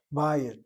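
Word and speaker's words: בית: Bayit, the accent is on the patah. Short vowel patah, not closed by dagesh chazak in the yud, nor a vowel underneath the yud, as a chirik the yud does. So it's a short vowel, open syllable, irregular, draws the accent.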